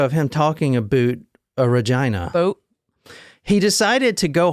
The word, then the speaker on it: Regina: stop was Regina and that is how you say it not Regina it's Regina I saw a video